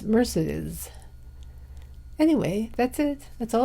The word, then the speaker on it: Mercedes: it on TCM that I was mispronouncing Mercedes Mercedes mccambridge's name I used to say Mercedes I guess it's Mercedes anyway that's it that's